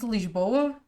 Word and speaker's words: Lisboa: You want me to say it in Portuguese? Lisboa.